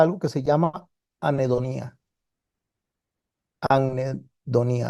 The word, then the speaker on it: anhedonía: Anhedonía, así es, se pronuncia así, anhedonía.